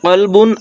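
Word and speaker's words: قلب: আমরা জানি যে কলবুন আর কালবুনের মধ্যে পার্থক্য। কলব মানে হৃদয় মানে অন্তর, আর কালব মানে কুকুর।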